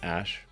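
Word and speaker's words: Æ: It's just X, the letter X, and then the AE is like pronounced Ash.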